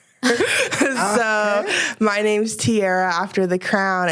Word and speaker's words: Tiara: So, my name's Tiara after the crown. And it would be Tiara, but my dad always pronounced it with the southern accent.